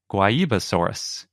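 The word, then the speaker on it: Guaibasaurus: dinosaur of the day guayibasaurus it's a dinosaur from brazil so we're going with the portuguese pronunciation yeah it's spelled g-u-a-i basaurus if you can't tell by how we're pronouncing it but before we get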